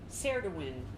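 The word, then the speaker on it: Ceridwen: Spell it correctly. I gotta keep changing pockets with this. Cerridwen.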